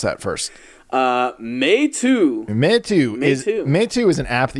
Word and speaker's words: Meitu: Okay, so how do you pronounce that first? Meitu.